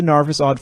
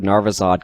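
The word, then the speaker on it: Narvisaud: Let's get into the narvizod first, because the mechanical identity, which is at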